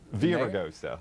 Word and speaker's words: Villaraigosa: Villa La Grossa, that's how you say his name, right? Villa La Grossa? Villaraigosa.